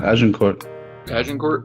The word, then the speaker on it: Agincourt: And originally it was, or to the French, it was Azincourt, right? I don't know. I don't speak French unless I'm a cat. The English couldn't pronounce the Z, so they said Agincourt.